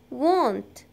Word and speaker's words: won't: to know something important the contraction of will not is won't we pronounce it want ok therefore she will